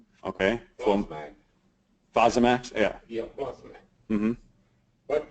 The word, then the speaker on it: Fosamax: Now, I'm going to have to take Flosmax. Okay. Flosmax. Fosamax?